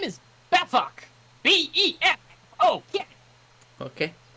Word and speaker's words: Befok: Could you give us the pronunciation of your first and last name, please? Your first name is Befok.